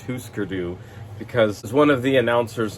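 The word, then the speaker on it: Hüsker Dü: people in um husker dude i know it's pronounced husker do because one of the announcers on npr did an interview with grant hart that i listened to and that's how she pronounced it so it's who skurdu we're not going to say husker even though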